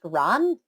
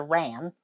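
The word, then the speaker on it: Rán: them down today's goddess I believe her name is pronounced Ron as opposed to ran she is a goddess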